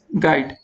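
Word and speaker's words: guide: 28 number question क्या है विच letter is silent in the word गाइड, तो कौन सा दोस्तों वर्ड साइलेंट यहाँ पर आपका हो जाएगा?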